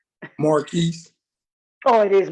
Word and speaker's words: Marque: sure I'm pronouncing right Mark it is pronounced Mark right Marquis oh it is Marquis okay all right because it's spelled a little